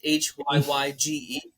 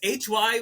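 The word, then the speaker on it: hygge: You know the Haig or the Hige culture. What I don't know But how to pronounce it, but it's Hyye. Mm-hmm. No, for real, it's Hyye.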